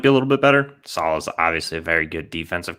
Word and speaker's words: Saleh: Is Saleh, baby. Robert like salad. Saleh.